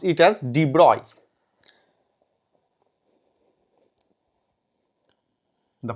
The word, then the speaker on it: de Broglie: 1924 the scientist D broccoli pronounced it as de broi the pronunciation is deploy it suggested that yes a